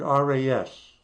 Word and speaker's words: Ras: You notice that the name here has the word RAS. That's Arabic for head. Rosh in Hebrew. It's an ancient Semitic root. Ras, pronounced that way, means head.